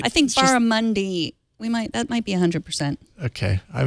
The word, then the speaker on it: barramundi: Crispy barramundi with quinoa and roasted carrot salad. Did I say it right, Megan? Barramundi?